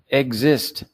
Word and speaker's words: exist: The EX song I difficult to pronounce. Yeah, for me. Yeah, and it's for a lot of people, and that's why I say eggs. Just cheat. Say egg.